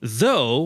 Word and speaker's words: though: But in though we have gh in the end but we don't pronounce it.